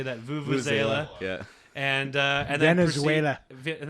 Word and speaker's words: vuvuzela: Vuvuzela.